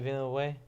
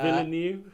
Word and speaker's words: Villeneuve: Denis Villeneuve. That sounds as good as anything. Yeah. Villeneuve. Villeneuve.